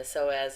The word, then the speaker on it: psoas: about this before again the soaz is spelled psoas here on the right but the P is silent and there is a major